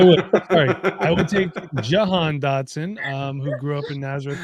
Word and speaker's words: Jahan Dotson: Jahan Dotson.